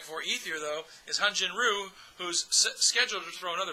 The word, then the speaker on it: Ryu: He told everybody to call him Ryu, not Ryu.